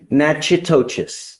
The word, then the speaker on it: Natchitoches: I butchered the pronunciation, but. Natchitoches.